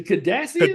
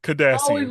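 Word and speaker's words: Cardassian: Space 9, every time I How do you pronounce it? Is it the Kadashian? Kardashian. Kadassian.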